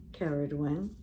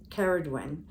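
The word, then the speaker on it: Ceridwen: Ye, Kaliak, Caradwen. And I always pronounce this goddess Caradwen, and I was never 100% sure if it was a hard C or a soft C,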